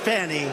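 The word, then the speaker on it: Fani: Fon F A ni I it should be pronounced Fanny Fanny funny funny they say she gets very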